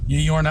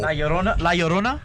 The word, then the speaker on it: La Llorona: Yorna. That's how you pronounce it, right, guys? No. La Llorona? There you go.